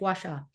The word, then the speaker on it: Gua Sha: going to butcher it I'll just spell it Gua Sha gacha oh you said it perfect gasa um so gacha is